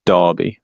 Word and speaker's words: Derby: Oh yeah, it's not Derby, it's Derby. Just letting you know. Yeah, it's spelled Derby. Dar.